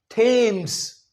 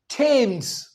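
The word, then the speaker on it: Thames: थेम्स। क्या लगता है? थेम्स। पर इसका उच्चारण थेम्स नहीं है।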